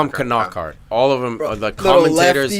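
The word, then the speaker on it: Knockaert: I'm calling him Knockart. No, it's not silent. It's weird. They all call him Knockart.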